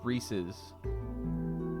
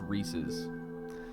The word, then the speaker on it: Reese's: It's Reese's. It's pronounced Reese's.